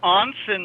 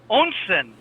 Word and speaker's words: Onsen: the founder of ONSEN Labs. ONSEN. ONSEN. Onsen. Yes. German pronunciation. I stand corrected. Thank you. Japanese, actually. Onsen in Japan is what they call a hot spring.